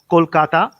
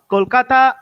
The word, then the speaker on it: Kolkata: of my city is kolkata how how we pronounce it kolkata kolkata is a city of culture cultural heritage as